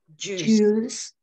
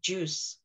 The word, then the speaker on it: juice: Juice. So you don't actually say the I, so it's not juice, but juice, no I at all.